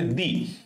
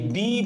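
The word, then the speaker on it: the: সেক্ষেত্রে আমাদের বসাইতে হবে দি। দি আসলে সিঙ্গুলার প্লুরাল সব জায়গায় বসে, কাউন্টেবল আনকাউন্টেবল সব জায়গায় বললাম বসে। এবং সবচেয়ে মজার বিষয়টা হচ্ছে এই দি বা দা যেটাই উচ্চারণ করো না কেন, এটাকে বলা হয়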